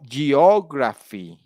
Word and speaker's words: geography: bigger than mate yeah on geography you know so graph is bigger than the other all right of critical